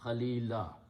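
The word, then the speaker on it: خليلا: it will be khalilan when you stop at the ayat you pronounce khalilah I wish I had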